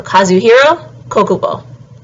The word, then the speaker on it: Kazuhiro Kokubo: So Kazuhiro Kokubo.